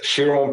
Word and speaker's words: Chiron: to pronounce it correctly but is it called chiron bus this vehicle for 3.6 million dollars so it's the shiron puresport the pure sport with the w who's